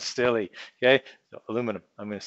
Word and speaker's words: aluminium: And I'm going to continue to pronounce it that way and spell it that way, even though the International Union for Physics and Applied Chemistry has said that it is actually supposed to be written and pronounced as aluminium.